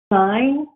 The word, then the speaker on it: sign: as signal or signature the gs are pronounced in those words but not in the word sign how does a reader